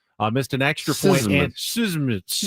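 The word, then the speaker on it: Szmyt: It's Andrew Schmidt, but it's spelled Szmmy T. No vowels. Missed an extra point and Sysmid missed an extra point and a field goal.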